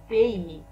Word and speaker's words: pays: البلد بالفرنسية le pays le pays le pays. هنا Y تنطق على شكل I، أما الإس في الأخير لا ننطقها.